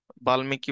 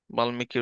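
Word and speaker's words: বাল্মীকি: তিনি হচ্ছে বাল্লিকী রামায়ণের বাল্কি বলে অনেকে উচ্চারণের বাল্লিকী হবে বাল্মিকি রামায়ণের শ্রেষ্ঠ প্রথম শ্রেষ্ঠ অনুবাদক গোবিন্দ দাস এটা হচ্ছে বৈষ্ণব পদকর্তা গোবিন্দ দাস হচ্ছে মিথিলার কবি ছিলেন।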